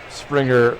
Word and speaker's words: Springer: Springer rhymes with dinger.